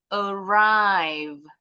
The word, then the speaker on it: arrive: Contoh lagi ini dua suku kata penekanannya ada suku kata kedua arrive. Arrive intonasinya lebih tinggi. Begin arrive itu sudah pasti suku kata kedua yang lebih tinggi kalau kata kerja.